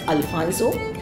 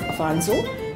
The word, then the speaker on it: Afonso: Britishers pronounce it as Alfonso instead of Afonso, and therefore it came